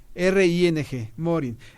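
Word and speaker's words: Mohring: Hay un concepto que yo tengo que plantear aquí al aire, por favor, que se llama el principio de Morin. Se escribe M-O-H-R-I-N-G, Morin.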